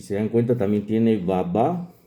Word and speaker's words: baba: Si se dan cuenta, también tiene baba. El africano lo pronuncia con doble acento en las dos A, baba.